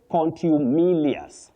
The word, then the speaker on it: contumelious: You say contumelious. Your words are a bit big. Contumelious. Melious, not melious.